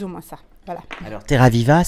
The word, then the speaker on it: Terraviiva: Alors, Terraviva, c'est la terre vivante, mais le viva ne s'écrit pas comme en italien. Qu'est-ce que ça signifie ? En finnois, c'est viva avec 2 i, et ça veut dire